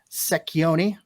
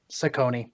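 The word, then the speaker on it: Cecconi: Unrestricted free agents, you've got Joe Secchioni. Did I say that right? Ciccone? Sacconi. Thank you. I'm putting an extra syllable in there.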